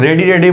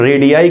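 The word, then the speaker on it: radii: इसको हम कुछ टीचर्स रेडी बोलते हैं, बट करेक्ट प्रोनाउंसिएशन इसको होता है रेडियाई बोलते हैं इसको, ठीक है।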